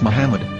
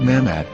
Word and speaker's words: מחמד: vowels, it can be read as Muhammad, which is the name of the Muslim prophet, or as Mamad with no A after the H. According to Ben Yehuda's Hebrew English Dictionary, it is correctly pronounced as Muhammad, not Mamad.